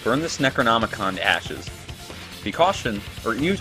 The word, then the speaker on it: Necronomicon: a clue there Monica I keep calling it the necromantic on I wasn't sure if I was saying it wrong but I am Necronomicon Candice which means she